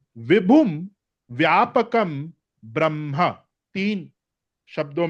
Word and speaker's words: ब्रह्म: वह ब्रह्मा विष्णु महेश वो वहां पे जो ब्रह्मा है वो उसका प्रोनाउंसिएशन और स्पेलिंग अलग है वो है ब्रह्मा। यह है ब्रह्म।